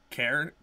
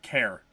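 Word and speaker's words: Cairn: what is it uh care care but it's spelled c a i r n it's something to do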